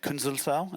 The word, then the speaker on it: Künzelsau: So we actually visited the Würth Group headquarters in Künzelsau. Is that how you pronounce it?